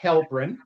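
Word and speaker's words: Helprin: Mark Hellbrin.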